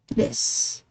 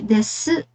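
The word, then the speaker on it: です: So we will not pronounce the desu since it is placed after the voiceless consonant na s.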